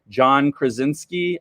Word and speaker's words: Krasinski: I've been inspired by, and I'm totally going to mess up his name here, John Krasinski, I believe is how you pronounce it.